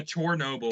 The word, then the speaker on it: Chernobyl: Heart of Chernobyl? Is that how you? Yeah, Chernobyl. And apparently it's explained why it's called that in the game.